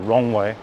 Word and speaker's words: Roewe: Let's head into the next, oh no, we'll go back to Roewe, or Rongwei, as they're pronounced.